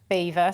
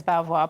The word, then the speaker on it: Belvoir: about is the name now it's spelt b-e-l-v-i-o-r i've been saying belvoir but you've been grimacing at me well we don't really mind how you say it so local local people call it beaver so we're situated in the vale of beaver but nationally people refer to it as belvoir but we really don't